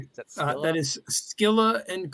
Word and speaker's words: Scylla: That is Scylla and Charybdis.